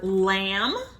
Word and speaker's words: lamb: sounds we know that in the word lamb there's a special sound M B well that's not the sound it's spelled nd the sound is M the be a silent